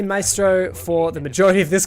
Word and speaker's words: Maestro: now I'm gonna say maestro for the majority of this car so ever I have been informed by my girlfriend who speaks Italian that my astre is the most accurate pronunciation anyhow that echo is